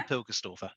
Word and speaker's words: Pilgerstorfer: you want to just share how you properly pronounce that because i i think i didn't do it justice no you did well pilkerstoffer that'll do amazing thank